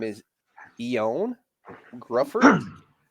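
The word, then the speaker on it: Gruffudd: I guess this guy's name is Ian Grufford. I'm not sure It's who this Ian. is. It Ian pronounced Gufford.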